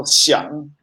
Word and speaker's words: 想: How do you pronounce 想 Xiang.